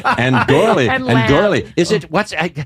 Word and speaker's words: Gourley: gourley. Is it, how do you say, what's that vowel exactly? Is it Gore. gore, like Gourley. gore, like Yeah. gore?